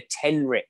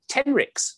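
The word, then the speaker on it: tenrec: My favourite animal is something called a tenric, and it's spelled T-E-N-R-E-C.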